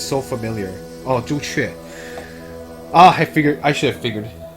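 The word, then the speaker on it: 朱雀: Oh, Zhu Chue.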